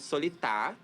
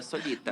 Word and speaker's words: Solita: Primeiro é Gordon, depois ela me chamou de Solitá. Gente, meu nome é Solita.